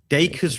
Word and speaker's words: Dacres: Dacres rhymes with acres.